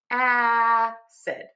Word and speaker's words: acid: This is our stressed syllable, so it's going to be louder, longer, and higher in pitch. Acid.